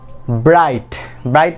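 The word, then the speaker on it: bright: Next one is very confusing. What is the pronunciation of this word? দো। এখানে কি আমরা পাচ্ছি, এখানেও আমরা জি কে সাইলেন্ট পাচ্ছি।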